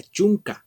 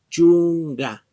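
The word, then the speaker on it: chunka: Ya no, como les digo, no se pronuncia chunca, sino se pronuncia chunga, chunga. Es igual para todos. Todas las palabras que terminen en estas sílabas, la K únicamente se cambia por la G y se pronuncia de esta manera.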